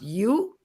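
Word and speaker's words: joe: In Stranang, the J-O-E pronounced you.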